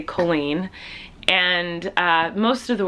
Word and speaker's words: Colleen: name uh my parents my family we say Colleen and uh most of the world says colen but actually it's an Irish name um it's